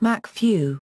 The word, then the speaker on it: MacFoeinaiugh: Ardal O'Hanlon is the gang's careless Northern Irish college tutor, Kieran McFinelove, pronounced Macfew.